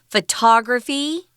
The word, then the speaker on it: photography: on the first syllable photography the emphasis is on the second syllable and this adjective here